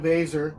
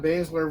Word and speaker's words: Baszler: You wanted your favorite, Shayna Baszler, to win, right? Yes, I am I pronouncing it wrong? Right? Wait, did I say Baszler? Is it Shayna Baszler? Shayna Baszler, yeah.